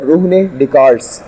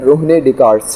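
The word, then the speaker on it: René Descartes: थे जिनका नाम था रोहने डि कार्ड्स क्या नाम था इनका इंग्लिश में यह लिखा होता है लेकिन ये बेसिकली इसको जो हम प्रोनाउंस करते हैं वो करते हैं रोहने डि कार्स ठीक है तो इन्होंने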